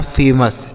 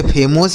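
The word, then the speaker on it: famous: एफ ए एम ओ यू एस, एफ ए से हो गया फे, यम से हो गया म, ओ यू का उच्चारण अ, यस से स, यह लिखा फेमस, ठीक है।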